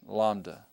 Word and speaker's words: Lambda: stroke is right there on the middle line Lambda Lambda all right let's take a look at